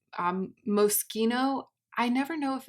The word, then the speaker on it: Moschino: It's Moschino. I never know if it's pronounced Moschino or Moschino.